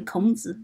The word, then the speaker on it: Kongzi: So you guys pronounce it like a Confucius. It's actually Kongzi.